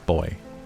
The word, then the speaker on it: buoy: I can go up to a boy a boy in the night and that is the correct pronunciation for those of you going um it's buoy it's boy boy oh man I always forget that I